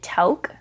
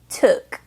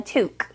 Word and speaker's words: toque: this was spelled I thought that the Canadians pronounced it to but no many many Canadians told me it was pronounced toque a toque a toque all right okay a toque the narrator keeps